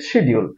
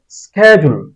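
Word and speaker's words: schedule: শুদ্ধ উচ্চারণ হবে এফিশাল এফিশাল এফিশাল এটাকে আমরা উচ্চারণ করি শিডিউল যদিও অনেকে এখন স্কেডিজুল বলেন কিন্তু বেশিরভাগই আমরা শিডিউলে বলে থাকি এটার শুদ্ধ উচ্চারণ হবে স্কেজুল স্কেজুল স্কেজুল এটাকে আমরা নিয়মিতই ভুল উচ্চারণ করি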